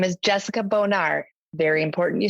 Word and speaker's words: Bonar: my name is Jessica bonard very important you spell my last name and pronounce it correctly it's Bonar it sounds like fancy French instead of very close to a dirty word that's awesome I have